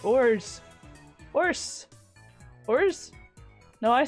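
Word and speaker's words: orz: There's no set way to pronounce it. People may pronounce it orts, ors, or ors. I pronounced it ors.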